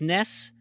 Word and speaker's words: NES: so WarioWare and and on their Twitter account they went ahead and said it's pronounced mess the official Famicom guy the the Twitter spokesperson said Nintendo themselves says it's ness pronounce Ness now it's funny because this